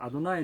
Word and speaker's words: 여호와: 우리의 루시 이미 시다 여호와는 우리의 lo 이미지다 어 아 이 중요합니다 이거 아는 우리 엔론 이 잊자 그때 여호와를 그 당시는 여호와 로 발음을 안 하고 아도 나의 로 발음 했어요 아도나이 는 주님 이라는 뜻인데